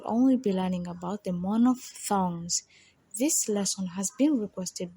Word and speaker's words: monophthong: There happen to be 3 different phonetic vowel sounds, but today we will only be learning about the monophthongs.